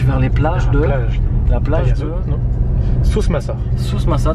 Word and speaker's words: Souss-Massa: Sousmassa, tu l'as très bien dit, bravo.